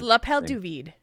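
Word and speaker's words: l'appel du vide: AKA call of the Void which I probably butchered the it's lapel duid lapel duid hey I didn't know that there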